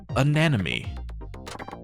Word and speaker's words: anemone: And please note that it's pronounced anemone.